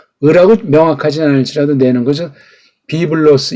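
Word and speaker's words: βίβλος: 비블로스 이렇게 해야 되지. 이게 비브로스 이거는 ABC가 안 된 사람이에요.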